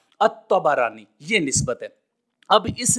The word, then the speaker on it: الطبرانی: الطبرانی، تا، با اور را کے فتحہ کے ساتھ، الطبرانی، یہ نسبت ہے۔ اب